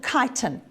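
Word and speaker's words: chitin: of a substance called kiten okay you can pronounce it chitten if you like kiten doesn't matter as long as you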